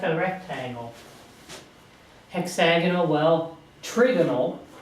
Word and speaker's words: trigonal: Hexagonal, well, trigonal, it's not triagonal, but it's trigonal, is the shape for this.